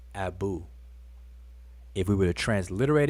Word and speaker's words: Abu: and a elephant determinative but the word is Abu it's pronounced Abu if we were to transliterate it would be